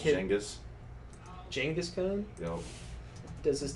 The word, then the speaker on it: Genghis: It's pronounced Genghis.